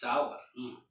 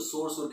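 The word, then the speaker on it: sour: इट्स सावर. सावर pronounce करेंगे, कई लोग उसको सोर कहते हैं.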